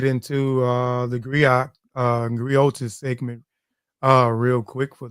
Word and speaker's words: griot: what is a gri and what is a griot uh it's Unique to West Africa the gri